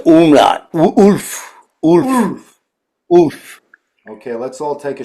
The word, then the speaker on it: Ulf: Oof.